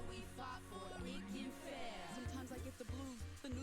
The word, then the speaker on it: Ikenfell: Yep, it's pronounced Ikenfell.